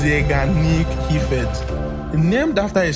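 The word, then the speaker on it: Zeigarnik: But I I had problem you know pronouncing that but it's pronounced zanic he ke named after a psychologist named bloomer zanic who discovered something fascinating in the 1920s.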